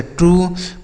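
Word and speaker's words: true: अगर यू के साथ ई लिखा हो तो यू का उच्चारण बड़ाऊ की मात्रा होगा, जैसे ट्रू, blue, glue, clue, crew.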